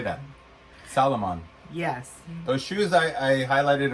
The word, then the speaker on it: Salomon: Salomon.